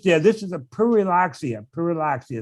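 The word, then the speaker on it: Pyrrhuloxia: Puriloxia is how you say it.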